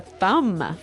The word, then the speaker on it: thumb: I actually only pronounce the M, the thumb.